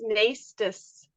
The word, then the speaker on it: Naistus: My last name is Naistus.